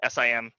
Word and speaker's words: CIM: known as a sim it's spelled cim pronounced sim um like i said